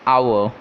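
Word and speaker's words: hour: emily next example nr this is its actual pronunciation is our okay and the word here starts with ah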